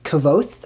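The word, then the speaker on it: Kvothe: This is another adult high fantasy about this main character named Kavoth, I think is how you say his name.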